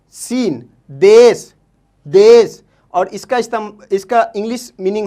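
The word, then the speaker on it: دیس: इसी तरीके से दूसरा वर्ड लेते हैं, दाल ये सीन, देश, देश, और इसका इंग्लिश मीनिंग होता है कंट्री, कंट्री, ठीक है।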